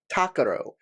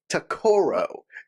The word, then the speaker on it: Takaro: he's talking about everybody my character's name is takaro the emphasis is on the first symbol syllable takaro not takoro yeah sorry my best